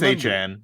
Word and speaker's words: Achane: It's Achane.